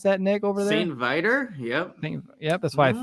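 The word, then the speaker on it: St. Viator: But in CHGO gear, as a fellow alum of, how do you pronounce that, Nick, over there? St. Vitor?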